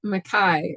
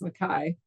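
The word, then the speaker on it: MacKaye: Mary Fire, got Benton Mackay, or I think it's pronounced Mackay.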